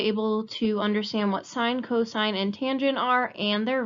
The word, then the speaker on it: cosine: abbreviated s i n cosine is like co sine you cosine on a house cosine on a loan it's abbreviated with cos